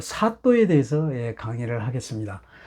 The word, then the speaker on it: 사또: 그래서 나란 일을 다스리는 데 있어서 일을 시키다는 사람을 사또라고 한다. 원래는 사도인데요. 사도인데 이게 된소리로 발음나서 사또 그렇습니다. 그래서 사또라고 하는 거예요. 원래는 사도입니다.